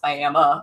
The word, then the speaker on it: Miami: I read that as Miami like Miami Oklahoma cuz we're at we have Miami Oklahoma it's spelled the same way but it's pronounced by Emma Oklahoma and so I was